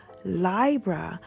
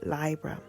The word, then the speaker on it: Libra: Virgo and move into lie bruh which is the correct way to say it because it comes from the word library library which we use library so we should might as well say lie bruh but you can say